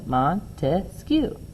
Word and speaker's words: Montesquieu: His name, when you say it, Montesquieu, there are 3 syllables in his last name, Montesquieu, 3 branches.